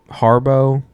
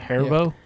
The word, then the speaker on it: Haribo: I'm gonna butcher the brand. Harbo gummy bears. I think it's Harbo. Something like Harbo. I don't know. It's like a gold packaging. Is it Haribo? Haribo? Yeah, That's sure. probably right.